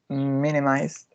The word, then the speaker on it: minimized: The fourth one is minimized, and the prominent is in the first one. It got 3 syllables.